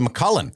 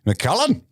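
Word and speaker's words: Macallan: thoughts I work for the McClellan I believe that's pronounced McCollum sorry a distillery in space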